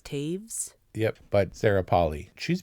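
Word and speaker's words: Toews: but the the novel Miriam Taves is how you pronounce it miam Taves t o e WS is Taves yep but Sarah poly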